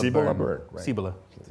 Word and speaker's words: Cibola: Help me with the pronunciation is it "seebola"--? DANIEL ABRAHAM: Cilbola. INTERVIEWER: Cibola.